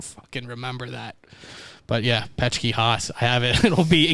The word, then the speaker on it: Petschke-Haas: seen your last name yet, but I think it's PECHKIHOSS. No. no. That's exactly how it sounds. No, it's PETSCHKE-.